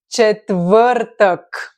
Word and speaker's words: четвъртък: Четвъртък. Why I say my favorite one? Probably the most difficult for foreigners to be pronounced.